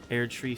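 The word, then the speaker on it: Erdtree: It's a minor air tree. That's how you pronounce it.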